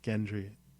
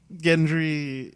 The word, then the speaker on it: Gendry: right after however you say his name barathan Gendry yeah it's definitely Gendry not Gendry is it I just watched something where they said both oh yeah me too yeah I think it's Gendry yeah Gendry what did she say who Michelle no uh